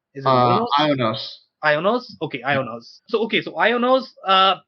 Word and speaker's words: IONOS: ionos or how do you read that or pronounce that is it iOS ionos okay ionos so okay so ionos uh but you don't